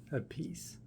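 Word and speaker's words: Appice: Carmen Pi. They pronounce their last name differently. The older brother Carmen a peace says it peace.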